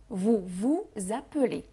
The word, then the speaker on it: vous appelez: هنقول vous vous appelez، vous vous appelez مرتين vous. وخلوا بالكم هنعمل الوصلة اللي هي ما بين الاس والا، ما بين الكونسون والفويل. هنقول za، هتسمعوا حرف زد بس طبعا مش هتكتبوا حرف زد.